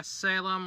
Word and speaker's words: Salem: but apparently that was Salem, the new villain for the next season, and, apparently the evil mastermind. Yeah, Salem, like the Salem witch trials, Wicked Witch of the West.